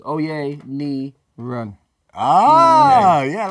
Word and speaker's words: Oyeniran: So how to say my surnames. Oyeniran.